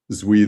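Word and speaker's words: Duy: The characters, it's not necessarily obvious reading that his name is Zui because it's spelled D-U-Y, right?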